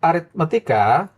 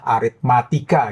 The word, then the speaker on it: aritmetika: Jumlah n suku pertama suatu deret aritmetika adalah 45. Ini aritmetika ya bakunya. Kebanyakan orang salah aritmatika. Itu nggak baku. Itu salah ya pengejaannya. Harusnya aritmetika. Ini yang benar.